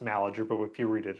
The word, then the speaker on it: Malaty-Uhr: Uh, Pronounced Malager, but if you read it, it's spelled Yeah.